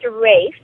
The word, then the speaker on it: Ralph: Now, there was a special dog in your life, and his name is spelled Ralph, but you pronounce it differently. It's pronounced Rafe.